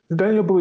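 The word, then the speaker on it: Daniel Boulud: restaurant from danielle balloud daniel blue not seen that name wrong well the d is silent but a lot of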